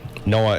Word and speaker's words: NOAA: NOAA is how they pronounce it.